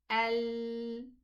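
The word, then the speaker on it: ال: So when we want to pronounce a lam sukoon, we say al, a hamza fatha lam sukoon, al, stretch the curve of the tongue at the back of all these teeth in the upper jaw. Al, okay? So this is how we pronounce, not just the tip. Don't say al, no, it's al. Stretch the tongue.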